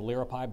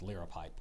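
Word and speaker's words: liripipe: dress sentence Gareth wore a hood with a l pipe down to his knees to the Renaissance Fair to noun the word is from Latin there are no alternate pronunciations L pipe L pipe l i r i p i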